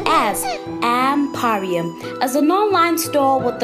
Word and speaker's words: Mporium: Pipi, shortcut for baby panda, and Mporium, pronounced as Mporium, is an online store with a twist.